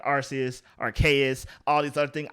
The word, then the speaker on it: Arceus: pokemon's name pokemon legends arceus with a hard k i'm in the arceus camp like i don't